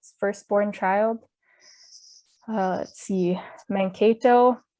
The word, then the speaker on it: Mankato: There's so many cities and places in Minnesota that the names were originally Dakota and have been anglicized. Anoka, Anunka, which means on both sides. Chaska. So sorry if I'm saying these weird, it's after learning the Dakota pronunciations, it's hard for me to go back to the English, I guess, pronunciation, the anglicized pronunciation.